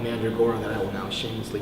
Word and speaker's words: Mandragora: And also, I actually have a side project called Mandragora that I will now shamelessly plug. It's spelled M-A-N-D-R-A, Mandra, and then Gora, G-O-R-A, and